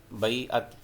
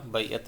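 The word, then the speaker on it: بیعت: बैतुन जैसे बैतुल्लाह अल्लाह का घर, ये जो लफ्ज़ है इसको बैअत पढ़ते हैं, बैअत आइन के साथ। इसको आइन जो है इसमें प्रोनाउंसिएशन में हम बोलेंगे। तो मुसलमानों से मौत पर बैअत ली, जी ऑप्शन इसका करेक्ट होगा।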